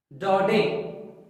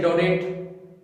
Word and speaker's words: Daudet: तो इस राइटर को बोला जाता है अल्फॉन्स डॉडे। कई बच्चे डोडेट, दाउटे, पता नहीं क्या क्या बोलते हैं। डोडे, टी साइलेंट रहेगा।